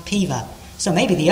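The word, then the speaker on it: Peover: o v e r the o is silent it's pronounced piva so maybe the o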